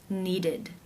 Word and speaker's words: needed: The final sound of the verb in the infinitive form is the D sound.